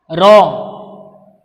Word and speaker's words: wrong: Then look at the second word W. W is silent here while we are pronouncing this word. We pronounce as wrong.